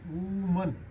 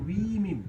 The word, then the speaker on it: women: तो WOMAN वूमन, एंड यदि ये सिंगुलर होगा तो वूमन हो जाएगा और प्लूरल होगा तो वीमिन नॉट वूमन बट वीमिन वी आएगा।